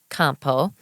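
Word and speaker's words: Campau: Detroit at all Joseph Campo and that's the French pronunciation I actually did know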